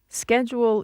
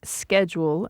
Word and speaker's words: schedule: Schedule in the U.S. is pronounced schedule as opposed to schedule in Britain.